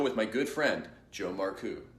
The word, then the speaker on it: Marcoux: It is Joe Marcoux because Joe's name is, for everyone listening, is spelled Marcaux, and That's right.